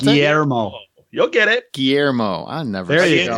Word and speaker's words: Guillermo: Guillermo. I never. There you go. In his podcast, you'll be able to say his name. Guillermo del Toro.